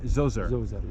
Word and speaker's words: Djoser: for the closure right how do you say Dozier Joseph oh so sorry King Djoser alright and this was all behind that fence